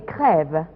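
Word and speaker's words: krewe: 1857 elle s'appelle des crève et non pas société des crèves ça viendrait de l'anglais crew et ce serait la prononciation française encore une fois le français en louisiane de croo anglais le crève la société prévient deuxième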